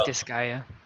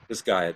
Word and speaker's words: Disgaea: Examples: Farmville, Hyperdimension, Neptunia, and Disgaea. I'm not sure if I'm pronouncing that right. I think it's Disgaea. Disgaea, thank you.